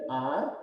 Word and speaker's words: hour: An R, here H is silent.